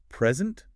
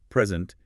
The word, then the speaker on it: present: We'll take the word present. Stress the first syllable. Present. It's a gift. Stress the second. Present. It's an action like presenting information.